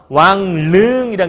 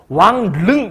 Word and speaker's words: 왕릉: 당연히 왕릉이라는 글자 발음하게 되면 왕릉 이렇게 발음하는 사람 없어. 엄청 힘들잖아. 그러지 않니? 왕릉 발음하는 사람 있어? 발음 자체가 되게 힘들걸? 그럼 어떻게 발음하냐면 왕릉, 그러니까 리을을 아마도 이렇게 발음할 거예요. 발음하게 되면 왕릉 이렇게 발음을 할 거야. 그치? 니은으로.